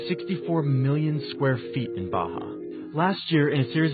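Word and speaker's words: Barra: is the place called Baja ours are pronounced like eh Portuguese this is a new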